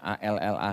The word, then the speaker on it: Allah: Tulisannya A L l ah H. Saya bacanya Allah karena enggak ada tasdidnya, Pak.